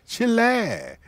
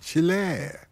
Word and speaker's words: Chile: question first of all I love the way the Yanks always say Chile Chile Chile as we said chill air that's right pronunciation isn't it chill air well why